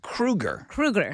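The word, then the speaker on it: Kroeger: So, Chad Krueger. Krueger. Chad Krueger? Not the grocery store, the serial killer haunting guy.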